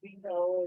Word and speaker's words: Vito: Okay, I was just saying that again, my name, which is Vito, is pronounced with the D.